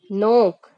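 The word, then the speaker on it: knock: देना रिजाइन का मतलब होता है स्थि देरा नोक नोक का मतलब होता है खटखटाना इसमें के वर्ड साइलेंट हो जाएगा एन ओ सी के नोक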